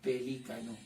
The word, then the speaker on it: pelícano: Profe, en pronunciación, acá dice pelícano, con énfasis. Acá dice pelicano.